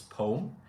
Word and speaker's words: poem: So, poem, we act like the e isn't even there. as if you put the e at the end, right? And it's poem.